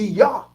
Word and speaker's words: Yah: o off the od it's still not yah sound because it's why why so how are they getting that sound so it must be yah and not your you understand what i'm